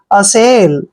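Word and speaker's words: assail: बनाकर next word देखिए A double S ए आई एल ए का उच्चारण हम ए करते हैं डबल एस को हम स पढ़ते हैं और ए आई को ए की मात्रा पढ़ते हैं एल को हमने ल पढ़ना है असेल असेल होता है आक्रमण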